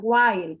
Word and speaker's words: while: Ajá, miren, sería while. Pronuncia, por favor, Alberto, while. While he was laughing. While, While. el sonido largo, while, y la L que suene bien, while he was laughing,